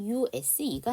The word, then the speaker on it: use: 얘 발음이 지금 중요한데 이게 명사, 형용사, 동사로 발음이 된다면 이게 명사와 형용사가 된다면 이 S의 발음이 S 발음이에요.